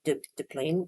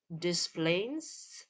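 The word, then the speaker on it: Des Plaines: De Plain. You don't say the S.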